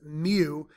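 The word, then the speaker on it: mu: use the symbol Mew it's a Greek letter pronounced Mew but the symbol is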